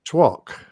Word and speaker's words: toque: A two in hand. Toque. Oh, twat. Toque? No. Well, I'm looking at what Lisa's saying. She's Canadian. Two? She says twok. T-W-O-K. That's how you pronounce it.